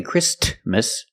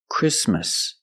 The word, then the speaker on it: Christmas: Christmas we don't say Christmas the t is between consonant so it is silent link the sound s with the m christm Christmas Christmas and it's not